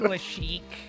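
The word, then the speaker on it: Lashiec: It's actually Lashik. Lashik? Okay. Like we're gonna start pronouncing names by the correctly first now.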